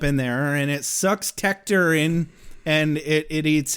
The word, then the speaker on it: Tector: I went to The Buffy Wikipedia and it's tector cuz he's like and his younger brother tea